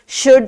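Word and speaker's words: should: कुछ sight words हैं जिनको जैसे शुड एंड कुड हैं, जिनको हम अगर स्पेल आउट करें तो वो शुल्ड एंड कुल्ड होते हैं, लेकिन जब उनको रीड करते हैं तो दी एल इज साइलेंट।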